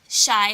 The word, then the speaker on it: Chi: See, I said Shy earlier and I said it right, and then Tara said Chai, and then she confused me.